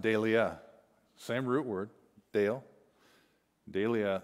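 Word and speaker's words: δειλία: this time it's in the greek it's it's pronounced delia same root word dale dahlia and this time it's translated timidity and it's in second timothy chapter 1 and verse 7.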